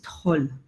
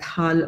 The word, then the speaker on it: Tol: within the cosmos is Tol. You will find the same word in KP Thompson's dictionary as Tal or Tal. I guess this is a local difference in pronunciation.